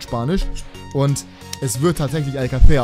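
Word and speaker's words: Alcácer: und es wird tatsächlich Alcacer ausgesprochen. Das C ist nicht das Problem. Eigentlich müsste es wegen dem Akzent sogar Alcacer ausgesprochen werden. Aber, also die Betonung auf dem A.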